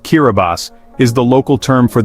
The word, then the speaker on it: Kiribati: The name Kiraabati, pronounced Kiraabas, is the local term for the Gilberts, named after the Gilbert Islands, which were charted by British Captain Thomas Gilbert in 1788.